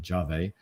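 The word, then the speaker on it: Yave: the of our startup competition um ya or jave not yeah it's it's built y-a-v-e but apparently pronounced jave um and this is uh basically um embedded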